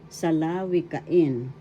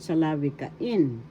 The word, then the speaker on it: salawikain: fifth syllable in salawika the fifth syllable has the accent salawikain salawikain or sawikain is